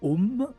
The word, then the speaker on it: om: ne le connaissent pas le fameux a en sanscrit qui s'écrit a u m trois lettres il n'ont pas deux lettres om om m une erreur à pas commettre a donc lorsqu'il